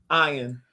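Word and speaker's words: Ian Ziering: I do remember him Ian his name no his name was ion he pronounced as I oh ion zering I used to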